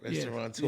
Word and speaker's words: restaurateur: You know, all my guests are special, but I got my man Lloyd Hollie here, and very successful restaurateur. That's how you say it? Restaurateur. Yeah, exactly right.